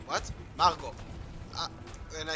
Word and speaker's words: Margot: I said Margot Robbie. And she's like, what? Margot. And I said, the T is silent.